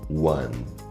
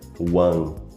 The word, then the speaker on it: one: Às vezes a gente pronuncia de forma errada, one. Tá vendo? Sem nenhuma articulação entre a língua e o céu da boca. One. O correto seria one, terminando o som com a língua tocando o céu da boca.